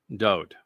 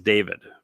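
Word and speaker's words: דוד: It's a Wah, makes the O sound, it's a vowel. The name was written Daleth, Wah, Daleth. Pronounced Dod.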